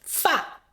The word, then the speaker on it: 发: 今天这个多音字有 2 个读音，第一个最简单，发，它跟毛相关，都读这个音。